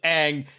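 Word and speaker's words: Aang: Ong. I should wanted have to do told that. him Ang, and then he would have just been correctly pronouncing it for the rest of the show.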